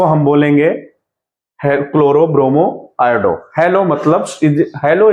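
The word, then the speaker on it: chloro: हेलो alkane, hello, क्लोरो, bromo, iodo, क्लोरो, bromo, iodo, क्लोरीन यूज होगा तो हम बोलेंगे क्लोरो, CH होता है चलोरो प्रोनाउंसिएशन जब करोगे तो, बट बोलते क्या है, क्लोरो।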